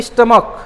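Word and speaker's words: stomach: CH आ रहा है, लेकिन उसका उच्चारण कैसे है, क।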